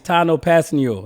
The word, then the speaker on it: Tanoh Kpassagnon: It's Tanoh Kpassagnon. That's how I say it. Passing you. But I try to say it fast so I don't mess up.